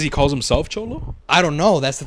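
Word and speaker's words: Xolo: must just say it's cholo huh what Holo I don't know it starts with an X it starts with an X or Zolo maybe he's with his it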